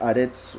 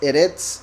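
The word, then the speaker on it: ארץ: también esto sería hereds Pero cuando aparece al final de un verso se pronuncia aretes O al menos así lo hacen Entonces erets es tierra y ya hace alusión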